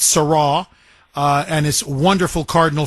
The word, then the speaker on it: Sarah: uh Cardinal Sarra is I guess how you pronounce his last name, Sarah, but it's Sarra.